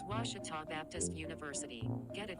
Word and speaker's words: Ouachita: it's your moment i've heard people say oh a cheetah oh wichita oh a cheetah is it pronounced searching for washi at a baptist university